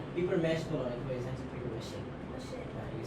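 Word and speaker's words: papier-mâché: paper and you're the only one who pronounced it. Paper mesh is actually paper.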